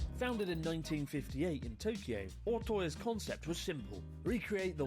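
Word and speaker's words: Ootoya: Also, I keep pronouncing Otoya wrong. It's Otoya.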